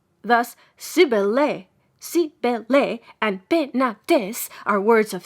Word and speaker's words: Penates: It is to be observed that in proper names the final E and ES are to be sounded. Thus, Sibylle and Penates are words of 3 syllables. Thus, Sibylle, and Penates are words of 3 syllables.